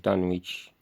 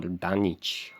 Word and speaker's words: Dunwich: Armitage, I believe, was that old chap in the Dunwich or Dunwich horror by Lovecraft, because you don't pronounce the W in that.